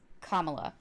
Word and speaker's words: Kamala: I also want to I also want to mention that earlier in the episode, instead of saying Kamala, I said Kamala, which is incorrect.